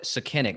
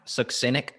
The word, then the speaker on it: succinic: We know candida's a piece of it, but man, and then look at the, I call it succinic, but I think it's actually pronounced succinic.